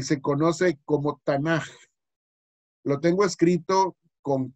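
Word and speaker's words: תנ״ך: La palabra Tanaj dice, viene del acrónimo o el acróstico hebreo, y ahí tienen la palabra que se pronuncia realmente Tanaj con J al final. Es la pronunciación correcta.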